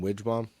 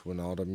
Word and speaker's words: Wijnaldum: the announcer on, but I was calling him Wijbom, just because that's what it looked like. I knew it was wrong, but I couldn't pronounce Wijnaldum yet.